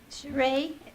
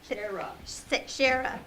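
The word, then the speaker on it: Shari: Sheree? Shara. So that's why you spelled it, so I pronounced it. Shara. I don't know how to get that out of S-H-A-R-I.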